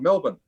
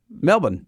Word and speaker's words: Melbourne: It Rock spot on Melbourne Melbourne but it's so the second syllable is kind of crushed against Melbourne see Simon